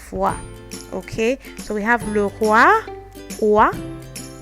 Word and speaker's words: roi: the king, le roi, roi. Then we have le bois. Bois is wood. So when you see this, next time don't say Roy and Boyce. It's roi, le bois.